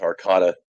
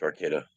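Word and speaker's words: Arcata: urban town called Arcada lot of people pronounce ARA it's Arcada yeah you're getting fruit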